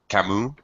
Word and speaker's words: Camus: heard of Albert cus Camu Camu uh yeah I know it's very French to not pronounce the ends of the last consonant uh you see that